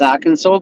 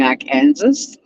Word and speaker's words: Arkansas: When I went to America, I knew that Arkansas was pronounced Arkansas, but to annoy my family, I kept saying Arkansas. They got so fucking pissed off with me. It's Arkansas.